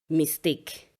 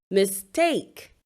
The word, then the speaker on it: mistake: Usually people would say mistake. No, it is mistake. It is the second syllable stressed and not the first.